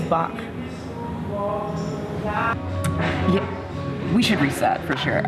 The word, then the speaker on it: Bach: i'm sorry yes um people mispronounce it a lot they it's like van gogh and van gogh but it's bach we should reset for